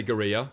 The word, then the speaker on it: guerrilla: Yeah, I say guerrilla, because that's how it's pronounced in, like, most of the countries. And now it's called gorilla or something in English.